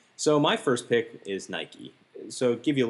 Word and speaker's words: Nike: So my first pick is Nike.